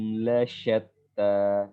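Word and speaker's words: لَشَتَّىٰ: Nah, shin pun juga seperti itu ya. Jadi sya itu bukan sya. Bibir kita nggak dibulatkan. Sya. Ya, sya. Ya. Jadi jangan dibulatkan bibir. Bibir itu dibulatkan hanya di kondisi-kondisi tertentu saja. Di sya, bibir kita hanya buka saja.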